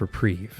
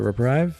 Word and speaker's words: reprieve: Their last talent was reprive and yes, I'm aware it's pronounced reprieve. I have always called it reprive and I'm going to keep calling it reprive.